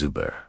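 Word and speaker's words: über: Similar to the last one, shape your lips for an O sound, but say a great word for this is uber meaning over or about.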